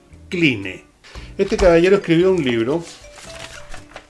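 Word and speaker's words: Cline: se llama eric klein se escribe clínic 11 eric clean este caballero escribió un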